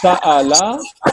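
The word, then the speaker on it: سأل: Here, I want to tell you that the Hamza of Sa'al, Sa'ala is Hamzatul Qat. Hamza of Sa'ala is Hamzatul Qat. So it will be pronounced Sa'al. Sa'al, is pronounced Sa'al.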